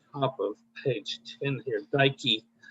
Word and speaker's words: Dike: If you look on the top of page 10 here, Dike, delta iota kappa epsilon beta, excuse me. It rhymes with Nike.